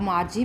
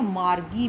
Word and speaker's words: Margie: आप मार्जी भी बोल सकते हैं या मार्गी भी बोल सकते हैं. इन दोनों को ठीक ही बोला जाएगा, प्रोनाउंसिएशन इनकी मार्जी या फिर मागी.